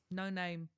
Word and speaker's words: Noname: No name. No name. Yeah, that's their name. Oh, It's actually pronounced Noname.